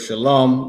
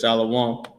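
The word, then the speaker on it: שלום: The the word shalom that everybody mispronounces and says shalawan.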